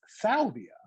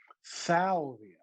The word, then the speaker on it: Salvia: The first word is salvia.